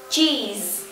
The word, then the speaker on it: cheese: nhớ là các bạn khi mà nói cái âm này thì chúng ta giống như chúng ta mỉm cười một chút xíu và tận cùng chúng ta có âm Z Ok J the cheese